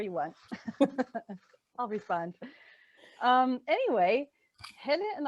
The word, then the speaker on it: Helle: Also, this is a great experience for, you know, teaching everybody how to say Helle, because it's Helle and Helle. That's usually mispronounced.